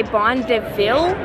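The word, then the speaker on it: Bon Dévil: Bon Devil is how they say it. I was saying it wrong, sorry.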